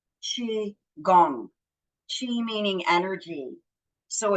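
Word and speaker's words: qigong: g n but it is sp it is pronounced chi gong chi meaning energy so it's energy harnessing and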